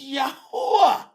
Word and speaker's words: Yahuwah: It's Yahuwah.